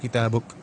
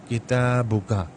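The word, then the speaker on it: كتابك: میں یہ کاف پر زبر نہیں بولا جاتا ہے، بلکہ کتابک کہا جاتا ہے، کتابک. ورنہ بنیادی طور پر جو اس کی جو گرامیٹیکل ریڈنگ ہے، قواعد کے اعتبار سے جو اس کے جو تلفظ ہے وہ ہے کتابکا.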